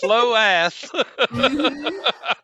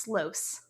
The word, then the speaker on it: Sloas: Uh it is pronounced Slows. Slows, okay. It's like Sloan.